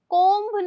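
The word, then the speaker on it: comb: ध्यान रखिएगा इसे कोब। कोम्ब नहीं बोलना है। कोम बोलना है यहां पे। ये जो बी है यह साइलेंट है।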